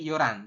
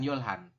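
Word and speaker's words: 열한: Ya, kalau kita bacanya itu nanti yoran, bukan yolhan. Tulisannya yolhan seperti ini, tapi kita bacanya yoran.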